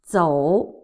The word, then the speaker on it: 走: Zou, also third tone.走走走走 The Z, you can imagine somebody is making a drilling sound.